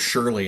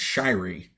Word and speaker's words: Shirey: wrong uh oh really I always thought it was Shirley and it's Shirey Shirey yeah Kyrie so I